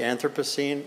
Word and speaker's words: Anthropocene: Atlantic we tend those who even know about this concept tend to say anthropos scene and here people tend to say anthropos so this is also novel that we don't even know how to pronounce the term yet it would be good